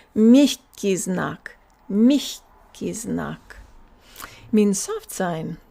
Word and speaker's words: мягкий знак: The soft sign is pronounced мягкий знак. So it's not мягкий знак. Our tongue doesn't have time to go low enough to say мягкий знак. It's мягкий знак.